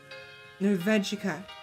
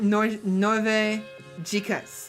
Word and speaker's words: Norvegica: Norvegica. Yeah. Oh, I was pronouncing it Norvegicas. No, Norvegicas. You're right. I was pronouncing it, the syllables wrong. I mean, wrong inflection or whatever, I don't know.